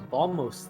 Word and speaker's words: Bombos: I think I always called it Bombos as a kid, which it Actually, makes more it sense for me to be might be. Bombos, because when you say bomb, the B is silent.